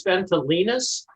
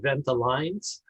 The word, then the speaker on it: Ventolines: it ventelines yeah well technically it's been tolenus but uh most people including employees call it venta lines just like it smelled